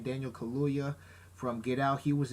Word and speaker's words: Kaluuya: You also have Lupita Nyong'o, Forrest Whitaker, Andy Serkis, the dude from Get Out, Daniel Kaluuya. Yeah, I think that's how you pronounce his last name, Daniel Kaluuya from Get Out.